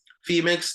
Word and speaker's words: Phemex: So How do you spell that one? Femex, that's PHEMEX.